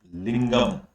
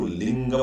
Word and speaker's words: लिंगम: image of द लिंग लिंगम शिव जी की जो इमेज होती है व लिंगम के रूप में होती है उसको लिंगम बोलते लिंग नहीं बोलते एम उसम साइलेंट रहता